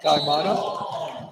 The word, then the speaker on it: Kaimana: My crew in the back said the pronunciation is Kaimana.